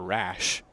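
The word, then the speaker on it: Raasch: and wretch Oh ratchet I was thinking more rash because the S is silent in his name it's our double-a s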